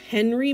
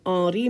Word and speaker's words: Henri: to read this as henry matisse but we need to pronounce his name ari matisse in french we don't pronounce the h very often look at these two